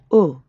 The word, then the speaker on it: au: For this word, round your lips like you're saying the English letter O, but keep them rounded the whole time. Don't relax at the end how we normally do in English.